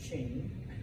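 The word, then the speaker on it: Qing: and ends in a g um but it's pronounced Ching all right they established the Ching Dynasty okay and so basically from 1644 until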